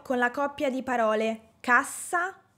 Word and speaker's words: cassa: Hagamos otro ejemplo con el par de palabras "CASSA" (caja) y "CASA" (casa). Cassa, casa. Aquí también tenemos una pronunciación diferente de la (letra) "S". La doble "S" queda en un sonido sordo.